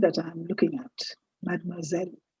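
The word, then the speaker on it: mademoiselle: Madmoiselle. Please see the S in this word is sounding like a zed. You don't say madmisel, you say madmoiselle.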